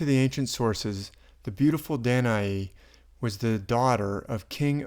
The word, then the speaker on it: Danae: Different people pronounce her name different ways, but I'll say Danae.